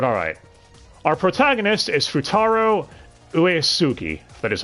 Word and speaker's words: Uesugi: that dub but alright our protagonist is futaro uesugi that is how you pronounce that last name correctly oh no but